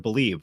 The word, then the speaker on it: BLEAV: Make sure to use the promo code BELIEVE. Now that's spelled BLEAV, BELIEVE, to receive your rewards.